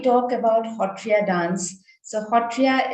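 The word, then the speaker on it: Sattriya: about hotria dance so hotrya is this is how we pronounce it in uh uh assam in smes uh which gets translated in english into satria but is a dance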